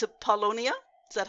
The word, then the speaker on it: Paulownia: But I'm so glad you brought up it's a Paulownia. Is that how you Yes.